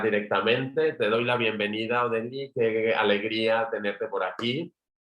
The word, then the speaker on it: Odile: Técnicamente se pronuncia Odile, entonces para poderlo, porque siempre es un... Es Odile, vale. Es Odile, sí.